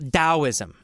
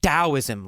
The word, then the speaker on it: Taoism: logic about it so it's spelled with a t but pronounced as a d I don't know why